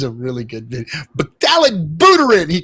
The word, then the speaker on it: Buterin: Vitalik, whatever your name is, however you pronounce it. Buterin. Vitalik Buterin.